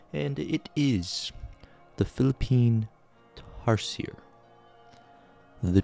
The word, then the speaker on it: tarsier: And it is the Philippine tarsier. The tarscier. That's how Wikipedia told me to pronounce it.